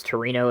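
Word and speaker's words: Trueno: I think that's Torino is how you say it.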